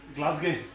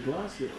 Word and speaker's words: Glasgow: How is it pronounced? Glasgow.